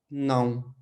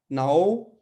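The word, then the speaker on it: não: बहुत जो जरूरी है, सी नाउ, ठीक है? नाओ, नाओ नहीं पढ़ना। तो ये जो आ के ऊपर यहाँ पे ये जो तिल लगा हुआ है, इसको तिल पढ़ते हैं।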